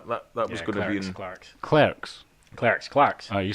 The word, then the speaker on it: Clerks: on actually but uh my number three is clarks's ah that that was going Clarks clerks cler Clarks oh you said Clarks like Clarks